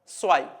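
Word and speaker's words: zwei: ഉച്ചാരണത്തിൽ വരുന്ന വ്യത്യാസം പഠിച്ചു സെഡ് എന്ന് പറയുന്ന ആൽഫബെറ്റിൽ സ്റ്റാർട്ട് ചെയ്യുമ്പോൾ നിങ്ങൾക്കറിയാം എസ് ആയിട്ട് ഉച്ചരിക്കണം അതുപോലെ ഇ ഐ വരുന്ന സമയത്ത് നിങ്ങൾക്കറിയാം ഐ ആയിട്ട് വായിക്കണം സോ ഇത് വായിക്കുന്നത് സ്വൈ സ്വൈ നുൾ ഐസ് സ്വൈ നുൾ ഐൻസ് സ്വൈ ഇനി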